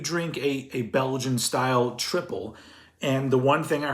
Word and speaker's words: tripel: was like is that tripel but apparently it's just pronounced triple and what a triple